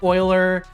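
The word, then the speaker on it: Euler: Oiler oh cuz it it said it wrong it's supposed to say Oiler it's supposed to say Oiler it's supposed to say Oiler he said it wrong his fault not mine for the record I know it's Oiler angles I learned that from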